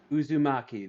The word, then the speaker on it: Uzumaki: going to be releasing uh I can never pronounce it Uzumaki Uzumaki there we go Uzumaki never heard of it